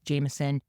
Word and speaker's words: JMSN: We're going to highlight this really great artist, Jameson, JMSN, but pronounced Jameson.